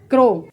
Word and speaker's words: crow: इसी प्रकार से CROW, तो आप देख सकते हैं यहाँ पर भी O के बाद में W आ रहा है, तो यहाँ पर OW का उच्चारण O होगा। तो इस कंडीशन में CROW को हम क्या पढ़ेंगे, क्रो।